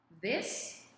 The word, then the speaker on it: this: There is a difference in pronunciation. This, it's the short I sound, and then we have the these. It is the long E sound for plural form.